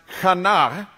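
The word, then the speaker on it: חנה: with hannah hannah's name the name hannah in hebrew is pronounced khana and kana means favor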